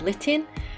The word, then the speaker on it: Litten: packet here we have litten that rhymes with kitten and i realize why it's called litten because it is lit